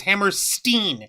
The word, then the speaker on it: Hammerstein: I don't know why they keep trying to pronounce it as Hammerstein. It's Stein, like Scott Steiner, not Steen like Kevin Steen.